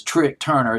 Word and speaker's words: Trik Turner: Trik, I'll just pronounce it as Trik Turner.